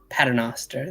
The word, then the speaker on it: Paternoster: So they have revealed the cover for a new release with my favorite trio that I can never pronounce. The Paternoster. Paternoster, that's right.